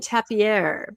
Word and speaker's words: tapir: It's pronounced different ways. In my family, we did the French version, tapier, because it was our spirit animal of our family.